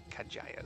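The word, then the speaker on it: Kadjaya: we are kaja's footsteps k a d j a y a Kaja is what I'm pronouncing it as kajay was a great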